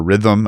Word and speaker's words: RITM: But again from this perspective of uh building reactors in factories, building multiple standardized units, the RIITM or rhythm as I believe it's pronounced uh reactor program.